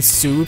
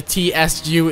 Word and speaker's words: tsu: a very short sound it's not even su people say su but you know it's just a sound in japanese it's not a word the water has that sound would be like you know that means moon like the pewdiepie clothing brand but you know just the tsu is just see that's